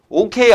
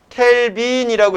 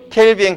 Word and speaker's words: K: 그래서 요때를 0이라고 하고 단위는 K다라고 써요. OK 아니에요. 알겠습니까? OK 아니야. 얘는 읽을 때 뭐라고 읽느냐? 켈빈이라고 읽어요. 뭐라고 읽는다고요? 켈빈. 그래서 뭐라고 해야 돼? 0켈빈 이러는 거야. OK 아니고. 알겠죠? OK라고 하지 말고 0K 이렇게 하세요.